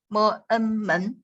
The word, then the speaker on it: 门: 门, 门. We spell in this way. 门, and that's the second tone, right?